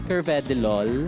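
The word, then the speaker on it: carvedilol: alaga ganda ganda ng shoot talaga naman pangmarathon curve deol curve deol is a medicine ba you're a pharmacist p actually it is pronounced as curvedilol curvedilol yes for everyone's din pong um Um information it's Cvedol.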